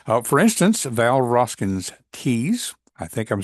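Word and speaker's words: Tews: But she sponsors this episode that is spelled TE WS, but I think it's pronounced like T's.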